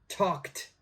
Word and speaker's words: talked: pronunciation all right so this word is tucked talked this is also a t sound number three please check